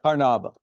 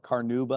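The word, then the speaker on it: carnauba: higher shine than beeswax but what caraba or some people call it caruba I've heard both pronunciations the other important piece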